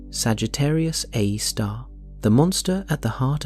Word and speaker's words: Sagittarius A*: Sagittarius a asterisk, pronounced Sagittarius a star.